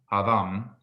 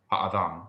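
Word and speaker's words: הָאָדָם: So basically, this is letting you know that it's not something like hadam, hadam, or something. It's ha'adam. So you have a little pause.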